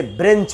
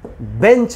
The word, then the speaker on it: bench: तो आज इसे हम सीखेंगे कि सिर्फ हम बेंच बोले, ना कि ब्रेंच। ऐसे भी अगर आप देखेंगे तो इसमें R तो है ही नहीं।